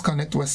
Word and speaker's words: ConnectWe: So tell us, what is Connect West Indies? Okay, so ConnectWe, as it's pronounced, it's a digital marketplace.